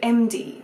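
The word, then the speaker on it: Emde: Because when they're written down you're going, yeah, okay, so there's a character called MD, right? Which is spelled E-M-D-E.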